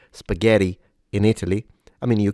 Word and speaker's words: spaghetti: So we have two options really, but the correct diction requires a closed vowel.